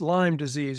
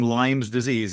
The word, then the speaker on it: Lyme disease: And I suppose you could make it plural possessive if you wanted to, but it's Lyme disease after the town. So saying Lyme's disease is saying it wrong, or we're not going to judge.